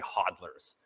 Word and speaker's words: hodlers: speculators and hodlers or as Craig calls them hooders I don't know why he pronounces it that way it's it's obviously hodlers which are people who